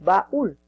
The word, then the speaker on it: baúl: en la u, es baúl. Y te das cuenta que la mayor fuerza de voz es en ul, en la segunda sílaba.